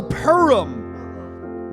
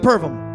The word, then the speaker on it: Purim: There's no V. Okay, well, you were saying it with a V. Don't blame me and Roy. He's fucking giving me the fucking lip now. No! You were pronouncing it Pervum.